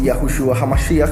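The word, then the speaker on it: Yahushua HaMashiach: me han escuchado decir yahushua hamashi porque esa es la forma en que se pronuncia yahushua el ungido en hebreo en griego sería yahushua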